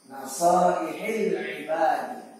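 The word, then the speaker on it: نصائح العباد: Syarah, ya, ulasan, nasaihi al-ibadi. Itu cara bacanya. nasaihil ibadi.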